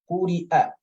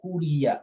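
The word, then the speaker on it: قُرِئَ: Or Hamza can use the Ya also as a chair. It's going to be on top of the Ya letter. Quri'a. Quri'a. So here, you will not say Quriya, La.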